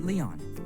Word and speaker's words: Lion: This man's parents named him Lion. The owner of the ID met my gaze and I offers a somewhat awkward smile. I know what you're thinking. It's pronounced Leon.